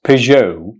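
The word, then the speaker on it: Peugeot: P or do you pronounce it P the correct pronunciation is Pou Pou Pou Pou its most famous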